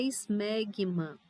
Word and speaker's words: esmegma: A Tainara, quando ela falou na parte de prepúcio, é só na hora de pronunciar, tá? O termo correto é esmegma.